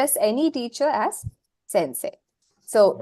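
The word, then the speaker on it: せんせい: that you use so since this e is only for the elongation of say you will not pronounce it as e you will not say Sensei that's wrong it's only there for the function of elongating say so you say Sensei Sensei Sim hi what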